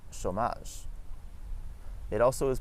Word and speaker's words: chômage: It is also pronounced as O when a word has the accent circonflexe, which we'll talk about in another video, like the word chômage.